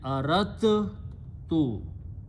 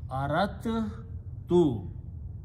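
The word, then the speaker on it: أردت: So what they do, instead of pronouncing dal, they pronounce ta two times.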